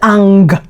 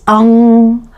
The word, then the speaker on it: ang: Now, do not read the g sound at the end. This is just a hint for you to take the sound and make it more nasal. It is not ang. It's ang ang.